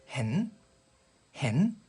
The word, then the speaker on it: เห็น: 17번 단어는 단모음으로 짧게 hen 이라고 발음하시면 이 단어도 사실 보다라는 뜻은 있지만 보이다라는 지각동사로 우리가 많이 쓰이는데요.